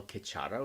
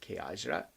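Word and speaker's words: Khechara: that's the Vajriogini pure land which we call Kachara or sometimes people pronounce it Kajra.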